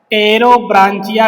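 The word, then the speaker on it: Pterobranchia: इंटेरोपनस्टा पहला क्लास है टेरो ब्रांचिया P silent होगा टेरोब्रांचिया दूसरा क्लास हो जाएगा यहां पे आप मेनली थ्री क्लास लिख सकते हैं बट चार क्लास होते हैं।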